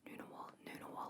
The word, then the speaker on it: Ngunnawal: The NG is just nu, not nugga. So it's not Ngunnawal, it's Ngunnawal, Noonawal, or Ngunnawal, which are